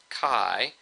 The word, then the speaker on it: Chi: like an X here this is actually a Greek letter Kai which we spell out Chi but we pronounce it Kai and um this is